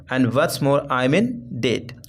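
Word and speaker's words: debt: आई एम इन डेट डेट okay यहां पे डेप्ट नहीं बोलेंगे डेट बोलेंगे बी यहां पे साइलेंट होता अलराइट तो सेकंड यहां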